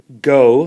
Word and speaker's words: Ngo: there and a man named NGO dinh diem pronounced go the first in there is silent that's not